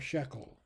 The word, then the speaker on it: shekel: is up okay then the tekkel or shekel tackle or shackle whichever way you want you could be pronounced either way tackle shekel uh is